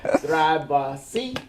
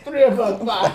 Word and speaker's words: Thrivify: can pronounce this right, Thrive C? Did I get it right? That's great. It's Thrivify. Thrivify. Yeah, so it's Thrive minus the E plus a Phi, Thrivify, and it's a verb,